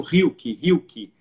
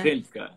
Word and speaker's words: Rilke: Assim, Rilke, né? Rilke. É um R que, para eu dizer, eu que aprendi a falar alemão já, enfim, com todo o meu aparato vocal pronto, eu preciso pensar para pronunciar, né? Porque se você diz Rilke, tudo bem, aqui todo mundo conhece Goethe, embora seja Goethe, né? Mas na Alemanha as pessoas vão ter dificuldade de saber de quem se trata, né?